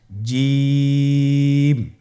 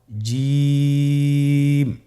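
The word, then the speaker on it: جيم: আপনারা আমার সাথে করুন জিম মাশআাল্লাহ আবার বলুন জিম আপনারা চেষ্টা করুন হয়ে যাবে এর মাখরাজ হলো জিহ্বার মধ্যখান তার বরাবর উপরের তালুর সঙ্গে লাগিয়ে উচ্চারিত হয় আপনারা পিকচারে ছবিতে দেখতে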